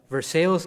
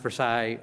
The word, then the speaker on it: Versailles: You know, here in Boston, they're repairing churches, but in January, a local member of Versailles, Kentucky, which is not pronounced Versailles, but spelled the same way, reported that the city